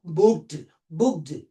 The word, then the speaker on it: booked: Therefore, after the voiceless sound, the ed or d sound pronounced as stop. Here, we cannot pronounce booked. No, booked.